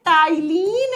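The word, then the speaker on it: ptyalin: दूसरा नाम होता है टाइलीन एमाइलेज एंजाइम। टाइलीन amylase enzyme. जब स्पेलिंग लिखते हैं तो पी से लिखते हैं, जब प्रोनाउंस करते हैं तो टी से करते हैं।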